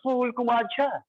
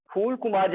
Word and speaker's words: फूल कुमार झा: I am not fool. I am fool in Hindi. Fool, flower. But sir, in English, for phoneme for should be pronounced. In pronouncing that for, upper teeth is engaged with lower lip.